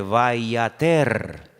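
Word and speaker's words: וַיֵּעָתֶר: Es la misma palabra, pero se pronuncia de una forma diferente, vayater.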